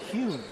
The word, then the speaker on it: Nguyen: public address announcer, and he's going with Hune, which is part Hun and part Nguyen together. And when Jade explained it to me last year, she said it was kind of a mix of both.